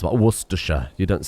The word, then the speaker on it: Worcestershire: That's how you pronounce it. Worcestershire. You don't say Worcestershire. It's just Worcestershire.